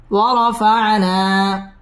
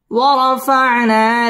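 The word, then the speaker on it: وَرَفَعْنَا: ওয়াও ঠোঁট গোল করে উচ্চারণ করতে হবে। ওয়ার, র পুর হবে। ওয়ারফা'না মধ্যে তবাই এক আলিফ টেনে পড়তে হবে।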